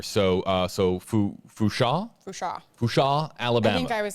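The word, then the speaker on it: Fourchon: Hashtag AJB, it's Fushan with a silent N there. So Fusha, Alabama.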